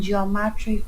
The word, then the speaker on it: geometry: about the joy in geometry graphs hmm in them okay why are these subtitles so wacky that over there she put the stress on the wrong syllable is geometry not geometry geometry let's talk about drawing